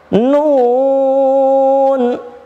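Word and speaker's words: نون: Nun ini gini. Bukan bukan, tapi bacanya nun.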